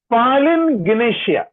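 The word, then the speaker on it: palingenesia: उसका ग्रीक शब्द है पालिन गिनेशिया, पालिन गिनेशिया, PALINGNESIA, पालिन गिनेशिया।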